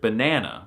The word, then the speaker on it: banan: This is the case for the word banana, which is therefore said like banan.